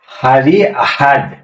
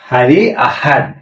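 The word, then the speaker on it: Hari Ahad: ছিল সপ্তাহের সাত দিনের নাম আবার বলি এর উচ্চারণ কি হবে হারি আহাদ হারি আহাদ হারি ইসনিন হারি ইসনিন হারি সলাসা হারি সেলাসা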